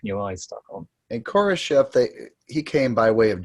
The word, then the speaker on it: Khrushchev: Khrushchev, not Khrushchev. Okay, thank you. Khrushchev. You've got to get the Russian pronunciation.